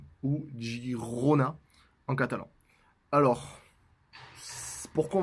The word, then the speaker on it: Girona: De Girona ou Gironne. Je vais essayer de faire attention à la prononciation parce que c'est un peu compliqué. Donc voilà, moi je vais essayer de dire Gironne au maximum.